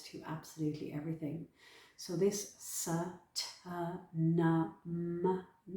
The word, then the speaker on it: Sa Ta Na Ma: So this Sa Ta Na Ma, it's the Sa Ta Na Ma, the sounds of the Sat Nam. So we really enunciate with the syllables.